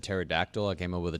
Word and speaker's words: pterodactyl: But after you said pterodactyl, I came up with a top 5 words with a silent P. Oh, pterodactyl. Great. It starts with a P.